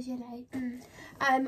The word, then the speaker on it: gilet: Everyone pronounces this different, but it's a gilet.